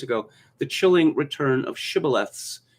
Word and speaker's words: shibboleth: they said unto him say now shibboleth and he said shibaleth for he could not frame to pronounce it he said sybileth because he could not frame to pronounce it right then they took him